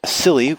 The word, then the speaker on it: Psily: I have a new band called Psily with a silent P at the beginning. It's Psily.